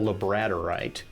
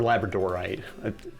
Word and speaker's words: labradorite: So, or labradorite. I've argued with people as to how it's supposed to be pronounced. It's probably labradorite because it's named after the island of Labrador off the coast of Canada.